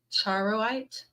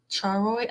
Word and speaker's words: charoite: Charoid?